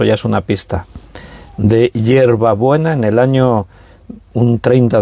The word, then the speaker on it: Yerba Buena: Entonces se llamaba Yerba Buena, así como te lo estoy pronunciando yo. No hierba, no, Yerba Buena, así se llamaba la ciudad.